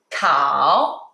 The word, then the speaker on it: 烤: 烤. The third tone, 烤, mean roast.